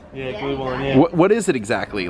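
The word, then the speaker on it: Glühwein: So they've got me trying something called glue wine. Is that how it's pronounced? Yeah, glue wine, yeah.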